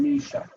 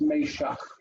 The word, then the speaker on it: Meshach: So the first one is Meshach. Yep. Meshach. It's funny because I think in English we're used to saying Meshach. Shadrach, Meshach, and Abednego, but it's Meshach. It's a little bit different pronunciation.